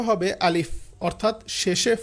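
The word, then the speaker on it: ألف: ভুল করে সেটা হচ্ছে আলিফ বলে শেষে প বলে উচ্চারণটা হবে আলিফ অর্থাৎ শেষে ফ আলিফ উপরের দাত যদি নিচের ঠোটের সাথে লাগিয়ে উচ্চারণটা করা হয় তাহলে উচ্চারণটা খুব সুন্দর হবে যেমন আলিফ পরের অক্ষরটা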